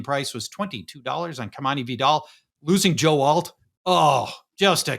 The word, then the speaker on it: Vidal: So Vidal, is it Vidal or Vidal?